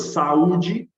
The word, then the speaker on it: saúde: Então, se você distribui em sílabas saúde, como vai ficar? Sa-u-d. Então, o U, ele é um hiato, porque ele fica isolado dentro da palavra nessa distribuição de sílabas.